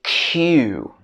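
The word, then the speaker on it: queue: next one is q a lot of french speakers would pronounce this as k or something like that this should be q particularly common in british english next one is comb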